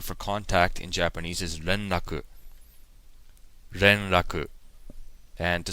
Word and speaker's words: 連絡: And the word for contact in Japanese is renraku. Renraku. And to spell that in Roman letters, it would be R-E-N-R-A-K-U.